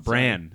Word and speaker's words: Bran: no no there's actually Bron bran it's important how you pronounce it oh really there's a bron and there's a bran oh my God help